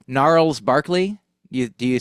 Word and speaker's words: Gnarls: It was a soft two. You're right. Okay, it's a soft two syllables. It's not a Yeah. hard two syllables. But Oh yeah. gnarls does feel like it does feel like two syllables, but It takes longer. Yeah. it is not an emphatic two syllables or something. No, it's absolutely. I think the reason is my understanding is that the R and the L sound are both liquid.